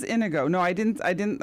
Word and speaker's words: Inigo: was Indigo myself but I'm seeing i n i my name is indigo no Ino Inigo Inigo in i n I go o I'm not saying I'm pronouncing it right no no no no no Inigo I thought it was Inigo is that how you pronounce it I think but it's said it's with an i it makes sense because he's probably from a place where e is I is pronounced e true yeah true an